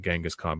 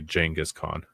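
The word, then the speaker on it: Genghis Khan: other than what well, we used to call it Gangaskhan, but now you have to say Jenghis Khan. Okay. Because that's the proper way to say it.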